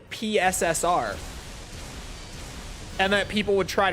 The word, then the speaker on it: PSSR: that uses the term pisser like everyone just calls it pisser it It became pisser after they announced it. No one says PSSR genuinely. I don't hear anyone actually say it properly ever.